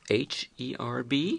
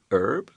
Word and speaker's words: herb: preceding it yeah because I say an herb I don't pronounce the h i say a herb although some people in